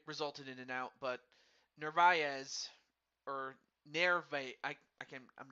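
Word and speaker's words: Narváez: well, it resulted in an out, but Narvaez or Nerve, I'm not sure how you pronounce his name. Omar Narvaez. Navarez. No, Yeah, Narvaez.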